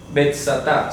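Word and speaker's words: Βηθζαθά: Si usted va al manuscrito griego, ahí sale la palabra griega betsatá. Se pronuncia así, o la transcripción fonética al castellano saldría de esta manera. Betsatá.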